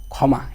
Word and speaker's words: ক্ষমা: কি দিব খ দিব যেমন ক্ষমা এই একটা মনে করো ওয়ার্ড আছে এই ক্ষমা যে শব্দটা আছে এই শব্দটাকে যদি আমরা উচ্চারণে তোমাকে লিখতে বলি তাহলে শুধু লিখবা কি খ মকার মা শেষ কি লিখবা খ ময় কার মা শুধু খ লিখবা এখন ক আর আর খ লেখার কোন প্রয়োজনই নাই কথা কি আমার বুঝছো